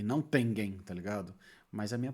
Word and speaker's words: Tengen: Primeiro a pronúncia, porque eu falo Tengen e não Tengen, tá ligado? Mas a minha pronúncia é péssima.